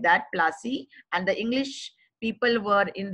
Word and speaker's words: Palashi: And the pronunciation actually was Palashi, and the place name derived its name from the Palash tree, known for its beautiful red flowers that yield gulal.